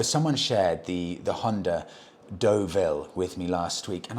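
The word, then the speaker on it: Deauville: you Tim I had I had no idea what was I calling it The jville I think semi- awkwardly pronouncing where I knew I was wrong you know it's funny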